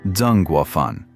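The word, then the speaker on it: Zeng Guofan: Most prominent among them, the Xiang army of Zhengguofan, pronounced Zhengguofan.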